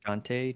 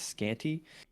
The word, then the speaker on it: Scante: Spoiler alert, it's pronounced Scante, not Scanty.